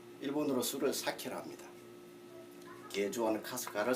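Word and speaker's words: 春日: 춘은 하루, 일은 희입니다. 일본어로. 춘리라고 읽든지 아니면은 하루희라고 읽어야 될 텐데 이상하게도 카스카라고 읽고 있습니다.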